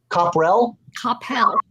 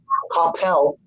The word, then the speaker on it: Coppell: Copperell, Texas. Copperell? Coppell.